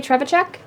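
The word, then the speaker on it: Trzewiczek: You can't say Trevachek? Ignacy? I can say Ignacy Oh, that Trevachek. Trevachek.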